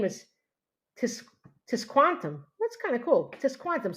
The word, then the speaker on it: Tisquantum: It's his name is Tis Tisquantum. That's kind of cool. Tisquantum. So like quantum with a tis tisquantum.